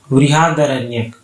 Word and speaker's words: बृहदारण्यक: बृहदारण्यक correct इसका pronunciation होगा।